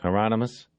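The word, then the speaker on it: Hieronymus: He looked at Bosch through the camera and said, "Remember the promise, Heronomous? Rhymes with anonymous," Bosch said.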